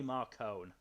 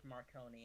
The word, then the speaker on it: Marcone: crime boss gentleman johnny marcone uh i never don't pronounce it marconi in my head i know that's wrong like explicitly but it just it